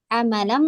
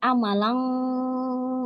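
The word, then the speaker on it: عملاً: Jadi ketika kita membaca ikhfa, bukan amalan, amalang, amalang.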